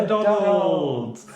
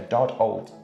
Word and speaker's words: Doddold: Yeah, Dodd-old. Dodd-old. An old Dodd.